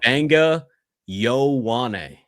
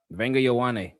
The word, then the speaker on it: Vega Ioane: So, there's an N in there even though you can't see it, but Vanga Yoane. Vanga Yawan.